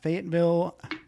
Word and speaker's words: Fayetteville: So you are in Fayetteville, North Carolina.